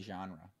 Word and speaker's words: genre: really bad if genres how do you say genre genre you say like the name John John I I got